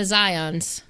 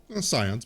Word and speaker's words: Scions: Back to the Zions. Scions. But yes, back to the scions. Yes, that one I do know the pronunciation of because they do say that.